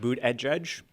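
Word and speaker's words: Buttigieg: energy odd so please tell us how to pronounce his name of n it's uh it's Pete boot at judge Buddha judge we have some stickers that have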